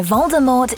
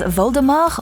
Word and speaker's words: Voldemort: french rowling once revealed voldemort or voldemort's name literally translates as flight from death and its last letter shouldn't be pronounced as jk wrote on